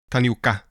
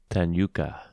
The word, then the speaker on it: Tanioka: So Lena Raine, because that last name is it's not completely clear how to pronounce it, but it's Raine, like rain. Mm-hmm. The other composer is called Kumi Tanioka. Tanioka.